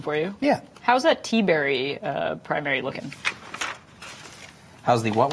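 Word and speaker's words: Tiberi: it's T-Berry. Okay. I know because Henry Gomez pronounces these names for me on the phone sometimes, and I'm reasonably informed that this man's name is T-Berry.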